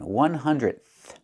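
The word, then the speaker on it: hundredth: And remember the pronunciation 100th. We have that th at the end.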